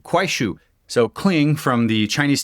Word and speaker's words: Kuaishou: I just paused the recording and looked up how to pronounce it. Quue. K U A I S H O U. Quue.